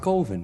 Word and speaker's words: Coven: It's pronounced Coven, man. What else could it be pronounced? Coven, that's the proper pronunciation. No. Coven. No. Coven sounds like oven, man, and that's just, it doesn't work. Unless you want to put an umlaut or something over the O.